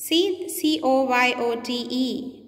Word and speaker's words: coyote: So you have wolf, fox, and then you have C, that is coyote. C-O-Y-O-T-E. It's a different pronunciation.